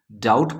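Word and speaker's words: doubt: वाले एग्जांपल में देखिए डाउट स्पेलिंग देखेंगे डी ओ यू बी टी डाउट पढ़ते टाइम बी यानी बा का साउंड नहीं आया है तो ये साइलेंट हो गया ऑफ स्पेलिंग पर ध्यान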